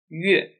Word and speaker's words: 乐: To mean instrument or music, it should be pronounced as 乐, 乐.